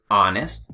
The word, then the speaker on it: honest: Just like the English word honest, you know, nobody says honest, so it's kind of like a placeholder in Spanish.